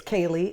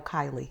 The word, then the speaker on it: Kayleigh: i between the okay it's kaylee and i go kylie kylie what is kaylee okay sometimes he calls me kayla uh my the grandfather